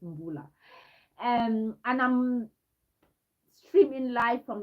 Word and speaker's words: Mbullah: A lot of people pronounce it Mbula. It's Mbula.